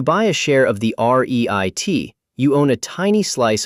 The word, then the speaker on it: REIT: Say it like REIT.